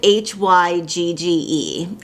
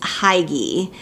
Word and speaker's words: hygge: the same way that i've been pronouncing it it's spelled h-y-g-g-e i thought it was heidi but it's pronounced hygge and like i've mentioned